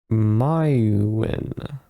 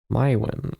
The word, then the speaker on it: Merwin: Pronounced Mywin. Mywin, okay. Welcome to my little home.